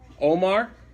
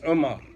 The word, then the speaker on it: Umar: Omar? That's an identity crisis. Because that's not how it's pronounced. Huh? It's Umar.